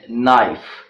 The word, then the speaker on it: knife: in both of these words the letter K is silent then me MIT knitting ok night and knife well these are the words in which the